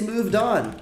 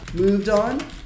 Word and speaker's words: moved on: O que é esse moved on? É o passado. Moved on é passado de to move on. Como é que pronuncia? Moved on. Moved on. Não pronuncia esse E, tá?